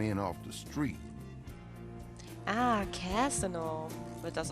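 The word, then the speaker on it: Cazaunoux: Ah, Casino wird das ausgesprochen.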